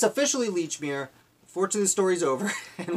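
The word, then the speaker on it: Lechmere: Leechmere, because it's spelled the same as the department store. Holy moly, I didn't even make that connection. That's great. Well, it's officially Leechmere.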